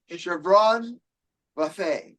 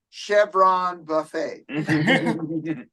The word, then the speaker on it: Chvron Buffet: It's Chvron Buffet. Yes. Nice, I like it. It's very Chevron fancy. Buffet. But if you're from the South, you call it Chevron Buffet. Just Okay. depends on where you're from and how you say it.